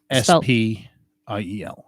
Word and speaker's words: spiel: S-P-I-E-L. Spiel. Spiel. You pronounce sh, but it's a S-P. Spiel.